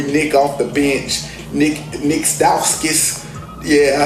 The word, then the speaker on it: Stauskas: You had your boy Nick off the bench, Nick Stauskas. Yeah, I said it right, Stauskas off the bench with knocking threes down, making